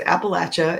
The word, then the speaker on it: Appalachia: for having me uh the correct way to pronounce it is appalachia if you're west virginia or south of that i don't know what those yankees say but down here we say appalachia and the way you